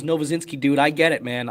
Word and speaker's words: Novozinsky: My last name is Novazinski, dude.